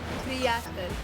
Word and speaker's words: prijatelj: Prijatelj.